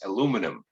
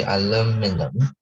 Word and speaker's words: aluminum: What I wanted to say is that in the United States, we pronounce this word as aluminum, which means we do not pronounce the letter I.